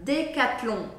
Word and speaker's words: Decathlon: agora chegamos a penúltima Decathlon outra marca francesa Decathlon Decathlon em francês é assim que a gente pronuncia não é Decathlon é Decathlon Decathlon e novamente o n não